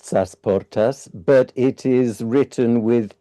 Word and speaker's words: Sasportas: Um, and that is pronounced Sasportas, but it is written with two E.